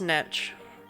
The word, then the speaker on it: niche: I promise it's niche. And it's horrible. We just say niche because it's French. But it's as an adopted word, it's pronounced niche.